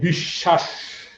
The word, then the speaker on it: বিশ্বাস: যেমন তার উচ্চারণ ডাবল হয়, যেমন দেখো এই যে বিশ্বাস, বফলাযুক্ত বর্ণ শব্দের মাঝখানে আছে, এই কারণে তার উচ্চারণটা, তার উচ্চারণ নাই কিন্তু যার সাথে যুক্ত আছে তার উচ্চারণটা ডাবল আছে।